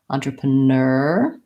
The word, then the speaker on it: entrepreneur: And then for our entrepre, we have the first syllable, vowel, the en sounds like on, and that's just our loan word version of the French entrepreneur.